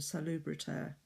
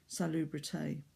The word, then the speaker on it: salubriter: roll their R's, but you do need to sound that R on the end of salubriter, not salubrité, like a French verb, like donner.